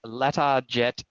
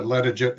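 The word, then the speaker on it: Latarjet: It's uh and correct me if my pronunciation is is not great here, a uh letter jet procedure to stabilize the joint and comes with a 4 month recovery.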